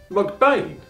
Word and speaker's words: MacBean: In Gaelic, it was Beathan, which as McBean, son of Bain, is pronounced with the H and the TH virtually silent, hence phonetically McBain.